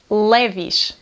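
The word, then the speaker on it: Levi's: It's really funny, because we say “LEVISH”, “LEVISH”. I think the original way of saying it is LEVI’S, but we say “LEVISH”.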